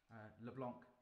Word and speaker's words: Leblanc: I should explain a little bit about my instrument and why I picked Leblanc, as it's properly pronounced, so I'll get in trouble for that.